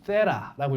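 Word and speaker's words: theta: 영어로는 세라라고 읽는게 맞습니다. 웃겨. 한국말로 그냥 세타라고 읽으면 돼요.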